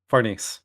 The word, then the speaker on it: Farnese: And then the head character takes off the helmet and she says her name is like Farnes or whatever. I think No, I'm pronouncing it Farnese. right. Huh? Farnese.